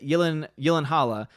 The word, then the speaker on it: Gyllenhaal: Clair says, it's seriously Gyllenhaal. Gyllenhaal's last name pronounced.